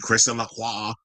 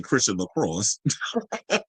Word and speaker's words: Christian Lacroix: they wanted her to read Christian Lacroix, or as little Kim would say, Christian Lacrosse. She couldn't even pronounce that shit back then on, what was it?